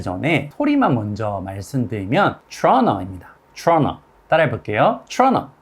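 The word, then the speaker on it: Toronto: 소리만 먼저 말씀드리면 따라해볼게요 truna 그런데 이게 트러너가 뭘까 궁금하시죠 바로 캐나다의 도시 토론토를 의미합니다 우리가 알고 있는 토론토가 영어로 하면 토론토인 것 같잖아요 하지만 우리가 영어로 토론토 발음 소리를 들어본 적이 없으니까 이렇게 쉬운 단어도 알아듣지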